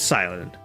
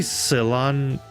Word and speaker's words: Cilan: And my name is Silent. I like grass type Pokémon. Shouldn't it be Silon? Because I think the joke with your three names is cilantro.